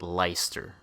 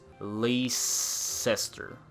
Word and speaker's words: Leicester: of the Leicester alliance I still can't believe how it's pronounced Lyster how how okay normally I would read that has lace ester laces sir but they just the game is literally like pronouncing yet has leister like how the is that possible they literally skip freaking like the whole middle part of that word like how is that